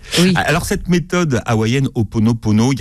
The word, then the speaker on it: Ho'oponopono: Comment vous prononcez? Oui, on dit Ho'oponopono.